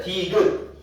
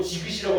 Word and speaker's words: 디귿: 디귿. 아무리 봐도 요거는 국외음화가 일어나야 될 것 같은데 한 형태소 안에서 일어나기 때문에 국외음화가 일어나요? 안 일어나요? 안 일어나요. 그냥 디귿이지 이걸 보고 지긋이라고 하는 사람은 없어요.